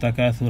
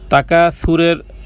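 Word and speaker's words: التكاثر: তাকাসুরের সাকে সায়ের উচ্চারণ জিহ্বার আগা সামনের উপরের তালুর সাথে লাগিয়ে পাতলা নরম করে, সিনের বিপরীত। সিন কিন্তু না, সিন কিন্তু জিহ্বার মধ্যখান, আর সা হবে জিহ্বার সামনে। তার মানে তাকাসুর নয়, বরং তাকাসুর। সুর সুর একটা হলো সুর যেটা সিনের উচ্চারণ, আর এটা হলো নরম তাকাসুর। তাকাসুর সায়ের উচ্চারণ পাতলা নরম।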